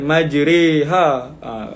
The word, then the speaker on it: مجريها: Wa qala rukabu fiha bismillahi majriha. وقال اركبوا فيها بسم الله مجريها ومرساها مجريها بين الفتحة والكسرة. Re tu bainal fathah wal kasrah, tetapi cenderung kepada baris bawah. Jadi bukan majriha.